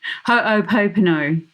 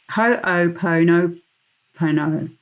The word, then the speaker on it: Ho'oponopono: Ho'oponopono. Ho'oponopono. Ho'oponopono. Ho'oponopono. I'm going to spell it for you.